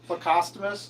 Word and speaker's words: plecostomus: Every time I hear it, it kind of hurts me a little. Cuz I'm pretty sure it's plecostomus.